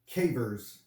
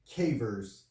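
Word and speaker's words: CAIVRS: so today what i found was something called cavers so it's spelled or i guess the acronym is uh spelled c-a-i-d-r-s and it's pronounced cavers and it stands for credit alert interactive reporting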